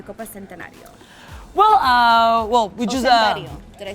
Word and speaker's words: Centenario: Well, we just Centenario. Did I say it right? Centenario is right.